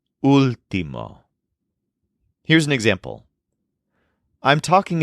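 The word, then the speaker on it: último: UL t m o but with an accent on the first letter Ultimo here's an example I'm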